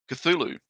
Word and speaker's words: Cthulhu: How do you pronounce it then, Eva? Cthulhu.